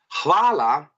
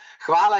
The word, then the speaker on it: hvala: Hvala. Nicole again, please. Hvala. Odlično. Hvala je po angliško thank you. And as I said, overpronounce H, it should be heard.